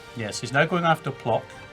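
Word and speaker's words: Płock: I think he launched a barrage to get the breach in Plock.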